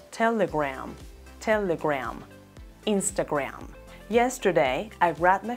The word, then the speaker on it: Telegram: estoy hablando de instagram ambas palabras telegram e instagram tienen la misma pronunciación en la última sílaba rama no se pronuncia a gramo con a si no se pronuncia graham instagram telegram telegram instagram yesterday and